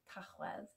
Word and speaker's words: Tachwedd: And the final month is November, mis Tachwedd. Tachwedd. Tachwedd.